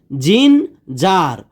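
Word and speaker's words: ginger: যেহেতু এখানে ই রয়েছে আমরা বলতে পারি যে জিন জার।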